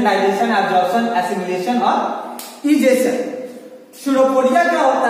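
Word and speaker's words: pseudopodia: इसको इसका spelling start होता है किस से, लेकिन पढ़ते हैं क्या हम लोग, स्यूडोपोडिया पढ़ते हैं।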